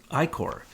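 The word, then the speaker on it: ichor: this I see hor how do you pronounce that I Corre Corre like I Corps so i kora was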